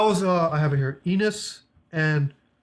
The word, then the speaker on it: Ines: Ines and Jana.